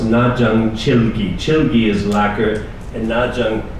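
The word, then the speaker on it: 나전칠기: In Korean, it's pronounced najang chilgi.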